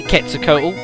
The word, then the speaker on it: Quetzalcoatl: We've got Quetzalcoatl. That is pronounced that way, Quetzalcoatl.